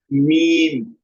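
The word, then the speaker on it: ميم: बाहर वाला जो पार्ट है हमारा, outer part of the both lips touch each other, pronounce मीम, मीम, okay.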